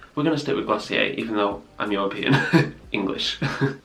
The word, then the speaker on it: Glossier: We're going to stick with Glossier even though I'm European.